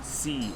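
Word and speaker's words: sim: C. It's also, C. it's not C like Spanish. It's S-I-M. The M is what's called a nasal vowel.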